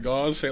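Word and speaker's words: Gauss: Don't say Goss like Gau. Say it like House with a G.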